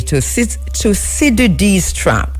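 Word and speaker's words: Thucydides: And it was during that dinner that Chi Chi Ping raised the issue of the toid trap toid trap. It's spelled t h u c y d i d e s.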